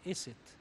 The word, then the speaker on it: Isis: And I think the name of Asia came from the name of Isis, because the Egyptian pronounced Isis as Iset.